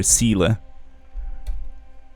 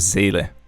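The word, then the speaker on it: Seele: about is that uh all the English YouTubers pronounce zaylee's name incorrectly even there there even though they're told that it's German and uh they can you know go and look up the correct pronunciation guide I still call her Sila or Sila yeah instead of Sailor this is here we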